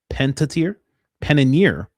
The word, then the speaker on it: Panettiere: Panettiere.